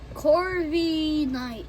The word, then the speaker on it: Corviknight: Okay, next up we got a 10 on, how do you pronounce that, Dylan? Corviknight.